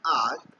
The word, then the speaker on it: hour: जैसे एग्जांपल है, it takes me एन आवर to complete the worksheet.